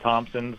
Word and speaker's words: Thompson: the dirty pee my my great-grandfather and Grand grandmother were both Thompsons my grandfather was without the pee my grandmother was with the pee and he knocked the pee right out of her when they got silent P got it thank you